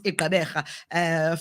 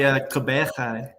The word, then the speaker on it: Gqeberha: And by the way, Gqeberha, yeah, to a certain extent, I can pronounce it. Yes. I'm so impressed. But there's that, that click there.